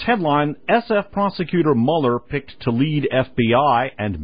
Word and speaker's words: Mueller: it will be uh Robert Mueller actually pronounces his name Mueller uh last name spelled m l l r uh Mueller himself is